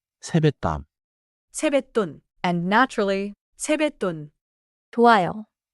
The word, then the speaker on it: 세뱃돈: One pronunciation note. in 세뱃돈. The 받침 시오 affects the next sound. So natural speech sounds like 세뱃땀.